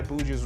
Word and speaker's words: Buju: I think you still pronounce it as Buju though.